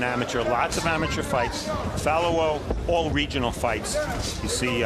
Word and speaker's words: Falowo: It is pronounced Falowo. It's Nigerian.